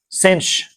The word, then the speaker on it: sinh: By the way, the pronunciation of these is not entirely standardized, but I like cinch, cosh, tanch, seach, and coseach, and I guess the only weird one is cough.